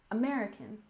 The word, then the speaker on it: American: we have American Revolution don't forget that we stress the second syllable in American American and Revolution we stress